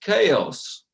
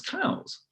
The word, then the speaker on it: chaos: I've not been talking about, I hear the word is pronounced chaos, right? So you've been talking about chaos all the way through. Everybody had been talking, thought he said was cows.